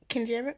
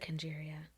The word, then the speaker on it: Kenjeriah: Kenjeriah? No, you pronounced it right. Okay, because I thought I said Kenjeriah.